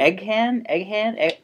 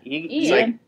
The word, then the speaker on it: Eoghan: Egghan? Where is it? Eoghan? Eoghan. Ian. It's like that.